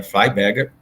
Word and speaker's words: Freiberger: Eu costumo falar Freiberger para ficar mais fácil, tá? A pronúncia seria Freiberger, né? Mas eu costumo falar Freiberger para ficar mais fácil.